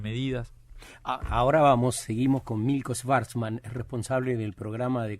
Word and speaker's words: Schvartzman: Yo digo Schwarzman, es medio austríaco, alemán, Schwarz es negro y Mann es hombre y Milko es blanco, o sea...